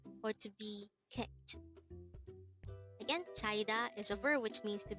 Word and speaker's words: 차이다: as a tree syllable word the Crystal Voice pronounce it with me chaida so where China is actually a verb which means to be dumped or to be kicked again chaida is over which means to be dumped or